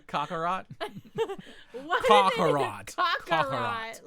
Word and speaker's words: Kakarot: Kakarot.